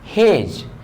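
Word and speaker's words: hedge: Pronunciation नहीं होता है, तो इसको हम लोग पढ़ेंगे प्लेस, डी को साइलेंट, प्लेस। इसको पढ़ेंगे ग्रस, इसको पढ़ेंगे हेज, इसको पढ़ेंगे डॉज।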